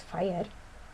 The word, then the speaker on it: FHIR: us see official observer ofher pronounced as fire is an emerging standard